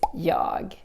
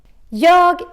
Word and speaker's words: jag: So, let's look a little bit closer to this jag. Jag is the Swedish I. And in Swedish, we have a tendency to drop the G in the end. We don't pronounce it.